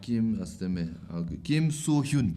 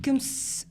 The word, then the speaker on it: Kim Soo-hyun: Like Kim, how do you pronounce his name? Kim Soo-hyun. Kim So-hyun. Kim So-hyun.